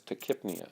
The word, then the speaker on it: tachypnea: A person who has then rapid breathing, tachypnea, we would say that that person has tachypnea, is how that's pronounced.